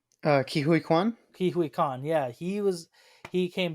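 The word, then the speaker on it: Ke Huy Quan: Kihui Kwan.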